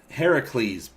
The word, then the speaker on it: Heracles: any of it yet heracles boom that's it aaron that's how they pronounced it hey recrease heavy please it's the greek origin name now i saw that